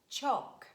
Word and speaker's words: chalk: And mostly letter L is silent when it's preceded by vowels A, O, U, and it's followed by a consonant. For example, huff, cuff, pum, bum, walk, talk, chalk, yolk, and could, would, and should.